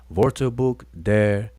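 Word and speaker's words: Wörterbuch: word for it the whole dictionary name is vortebook and it means the dictionary of the egyptian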